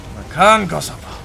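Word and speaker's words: Makankosappo: And thank you for pronouncing it correctly. You should be glad. I was very impressed. Makan Kosopo.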